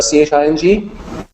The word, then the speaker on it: Ching: So the Jing, G-I-N-G, is actually the same character as the C-H-I-N-G, and the same character as the C-H-I-N-G here in the Tao Te Ching. It just means classic. It's spelled differently because this is the old Wei Gao's romanization, and the Qing Jing, this is the pinyin romanization. In the pinyin romanization, CH is written as Q, and it's very confusing.